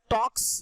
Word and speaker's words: talks: Okay, सो यहाँ पे बच्चे TALKS टॉक्स, यहाँ पे L साइलेंट रहता है, S लगा है।